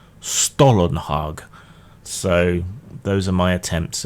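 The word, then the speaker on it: Stålenhag: you're supposed to pronounce Stallenhag. And various people seem to disagree. Some say it's more like Stollenhag, and some seem to think it's like the German fruity bread Stollenhag.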